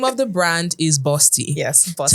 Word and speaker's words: Bawsty: And the name of the brand is Bosti. Yes, tell me. And it's spelled B A W S T Y.